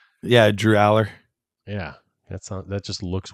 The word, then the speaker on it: Allar: how do you say his name yeah Drew Aller yeah that that just looks weird allar quarterback